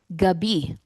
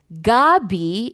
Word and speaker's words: gabi: Because if you say Gabi, it means the tarot. I don't know if you know that tarot. It's like um it's gab but if you say gabi, it means evening.